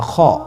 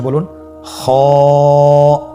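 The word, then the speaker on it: خ: same আকৃতির আরেকটি হরফ সেটা হল খ সে হরফটির নাম হল খ দেখতেই জিম হর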